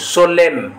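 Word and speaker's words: solemn: ई ना एन सोलेम हम कोन कहू सोलेम एम कहउछथि एन टा हम छाडी दोछथि कोन छाडुछथि ना सोलेम कहउछथि एन टा हमर कोन होछि साइलेंट हे जाउछि ऑप्शन नंबर डी होछि सठिक उत्तर।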